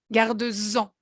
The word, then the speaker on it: garde-en: Et vous prononcez bien like a Z, garde-en, d'accord?